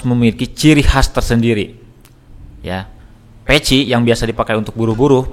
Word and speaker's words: PETJ: Oh, peci. Tulisannya PETJ, dibacanya peci.